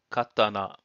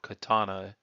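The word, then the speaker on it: 刀: By the way, this particular character may also be pronounced katana or katana if you're pronouncing it in a Western accent.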